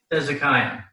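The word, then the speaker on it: חזקיה: It's he zik. The Sheva is not silent because the Sheva is vocal right there. He's a Kia. He's a Kia. Hezekiah.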